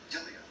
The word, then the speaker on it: Delia: Yeah, well, I pronounce the E like an I, so Delia. Delia.